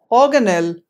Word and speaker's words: organelle: Number 9, a term from biology. This word is to be pronounced as organelle, and not like the other ways that you may have heard throughout your entire life.